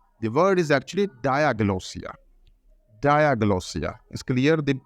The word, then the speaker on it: diglossia: know that it's not deloia the word is actually diosa dagia is clear the the stress is going to the first part Dia Diaga so uh